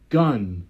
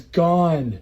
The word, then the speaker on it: gone: is one which means this word is gun no it's gone you don't see how it's because it's one with a G gone that's why okay which means